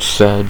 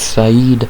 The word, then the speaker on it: Saeed: We have Saeed, since it's not said because dumb Americans say said like me. But I'll say it right, it's Saeed Nurmagomedov versus Sedyokub Kakramanov.